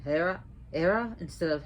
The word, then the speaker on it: Hera: on the Greek goddess era notice how I said Hera era instead of Hera because in Greek the um H is not pronounced so Hera is more of era ER so what is